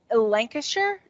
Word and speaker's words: Lancashire: but it's it's currently one from britain um lancashire is that how y'all pronounce it yeah it's super orange and it has like and it almost tastes like blue cheese and cheddar had a baby lancashire is my favorite cheese currently because it does